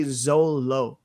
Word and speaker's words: Zoro: Like if you go in to like the actual manga like volumes, they all say Zolo instead of Zoro.